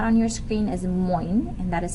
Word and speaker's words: moin: one that is not on your screen is moin and that is spelled m-o-i-n and they say that in the